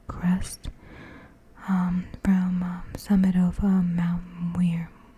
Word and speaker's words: Muir: But this is a view south of Trail Crest from summit of Mount Muir. That's how you pronounce it. Muir.